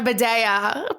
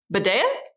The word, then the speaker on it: Bidèa: We have singer-songwriter Bidèa. Is that how you say it now? Yeah, Bidèa. Okay, great. Because every time I see it, I think bidet, and I know it's wrong.